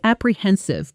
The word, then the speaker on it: apprehensive: Example, I was pretty apprehensive before my first presentation in English, but it went far better than I expected. Pronunciation. Apprehensive. Stress on the third syllable. Hen. Practice with me.